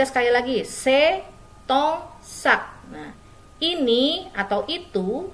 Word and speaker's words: tes: Dibacanya T. T, bukan tes. Oke, dibacanya T. S tidak dibaca.